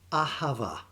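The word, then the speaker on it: אהבה: The second Hebrew word, which gets translated as love, is pronounced Ahava. Ahava means deep affection.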